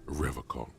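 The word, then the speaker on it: Revachol: He pronounces Revocol with a hard K, unlike other people. I like to pronounce it the hard way. The old way. The stupid way.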